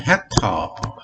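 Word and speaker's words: hectare: 자, 헥타르, 먼저 여기 HA는 헥터, HCTOR, 헥터라고 읽어요.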